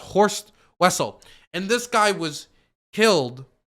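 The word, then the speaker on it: Horst Wessel: this guy was like I believe it's pronounced horse Wessel and this guy was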